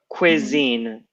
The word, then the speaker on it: cuisine: exactly great explanation so cuisine is this right it's a little confusing that there you go and the pronunciation is not like your cousin it's quick quick so